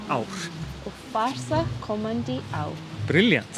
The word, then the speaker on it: ár: or ár. Ár. And then you have this scrolling R. Yeah, I Uh, can't do that. The scrolling R is like, it's not only hard for foreigners, it's even often hard for Icelanders.